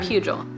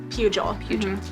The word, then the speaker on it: Pugel: to say that uh pugil pugil it's like the soft g sound oh okay um uh